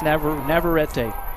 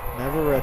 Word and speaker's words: Navarrete: after the Shoemaker win, is it Navarrete or Navarrete, just to make sure, because I've heard it pronounced several. It's Navarrete. Navarrete. Finally got it from the source.